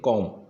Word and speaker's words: comb: इसका हम उच्चारण करते हैं कॉम, लेकिन जनरली इसका उच्चारण हम कॉम्ब कर देते हैं, और फोनेटिक सिंबल में हम बी का जो सिंबल बनता है उस वाले को टिक कर देते हैं, लेकिन वो गलत हो जाता है।